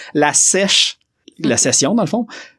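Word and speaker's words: La Sesh: Puis c'est ça d'ailleurs aussi, Total Waste, allez voir, mais il y a La Sèche, le S-E-S-H et non S-H-E-S-H comme j'avais prononcé, La Sèche, la session dans le fond.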